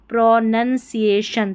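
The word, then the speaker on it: pronunciation: Vocabulary and पी आर ओ प्रो एन यू एन को none पढ़ना है। नून नहीं प्रो नन सीए सी आई सी आई ए सीए शन टी आई ओ N question प्रोनसिएशन तो ऐसे ही स्पेलिंग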